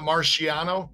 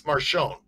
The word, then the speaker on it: Marchione: It's not Marciano, Marciani. It's Marchione.